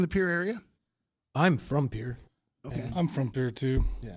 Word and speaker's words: Pierre: it is pronounced it spelled Pierre but it's pronounced Pierre so did you are you all from the pure area I'm from Pierre I'm from Pierre - yeah yeah we live